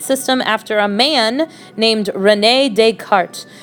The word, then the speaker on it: René: And you would have an extra E here if this was a female name, René in French, or René if you want to make sure that you pronounce it correctly.